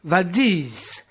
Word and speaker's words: Valdez: amené depuis l'aéroport vers valdez en alaska prononcer vadis afin que la dernière syllabe remake d'isis par les gens du coin gens qu'ils